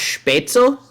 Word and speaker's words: Spätzle: Technically it's pronounced Spätzle. Spätzle. Yeah, Spätzle. I know, but we Americanized it because Spätzle.